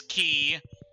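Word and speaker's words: Qi: And yes, his name is Key. I know it has a Q in it, but that's how the name is pronounced.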